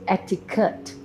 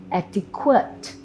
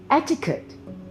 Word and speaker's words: etiquette: of this word so we hear people saying etiquette actiquite the correct way is what do you think take a moment e t i q u e double t e how would you say this word etiquette etiquette that's how you pronounce this word what